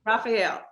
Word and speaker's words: Raphael: say your last name is it Rafael Raphael yes ma'am Raphael okay today we're going